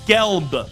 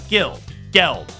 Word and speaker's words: Gelb: And it's the Zach Gelb Show, not Gelb, where we talk sports for 95% of the time.